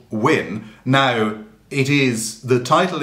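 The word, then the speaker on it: wynn: is just that letter win that old english letter but it does have in brackets underneath it w y n n for the pronunciation but then when it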